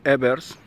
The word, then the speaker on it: Evers: El creador es Hans Jürgen Ebers, más o menos esa es la pronunciación en español.